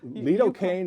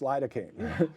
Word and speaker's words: lidocaine: S because you know leaine is not how you pronounce lidocaine you know so where